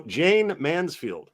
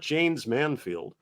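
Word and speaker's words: Jayne Mansfield: man James Mansfield see you pronounced it you just pronounced it like my mother no Jane Mansfield not Jan's Manfield my mistake folks um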